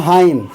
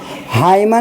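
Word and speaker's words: hymn: हाई। हाईमन नहीं पढ़ना है। क्या नहीं पढ़ना है? हाइमन बल्कि पढ़ना हाई। एच बाय एम हाई एम के बाद देखिए एन है तो एन को साइलेंट रखना है।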